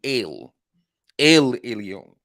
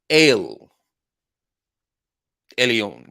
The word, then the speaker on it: El Elyon: what I'm saying alphabet but they use the E for pronunciation purposes but it's really ill Elion so just for those that would like to pronounce things correctly ale eleon which means what most